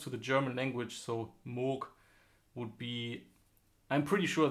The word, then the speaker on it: Moog: of saying this is MOOC MOOC with almost like a K at the end you don't really say Moog you say MOOC and yeah I think